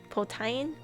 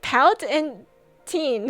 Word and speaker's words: poutine: Why would it be pronounced as poutine? What do you mean? That That looks nothing like how it's spelled. What do you mean? Also, thank you for the subies. Thank you, Tim. More pronunciations to steal. I just looked at it. I'm like, pout and teen or p pal tine or whatever. I'm like poutine. That's weird.